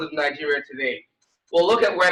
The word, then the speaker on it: Niger: Most people call it Niger, but it's Niger, it's French pronunciation.